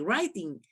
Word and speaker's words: writing: decía su clase de writing Entonces ellos me decían No mami no se pronuncia así pero yo no cachaba Por qué verdad y ahorita ya sé que me tengo que omitir la W Entonces ya a su